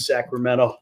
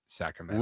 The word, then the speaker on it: Sacramento: Which is worse, somebody calling it Cal State, Sacramento, or pronouncing the T in Sacramento?